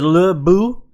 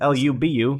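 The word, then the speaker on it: Lü Bu: no his name is Lou boo it's very difficult I'd say I say his name Lou Lou boo it's Lu Bu should change it to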